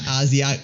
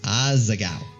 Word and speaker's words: Asagao: stay with me no it's not Asya it's aza cow cheese cheese classic how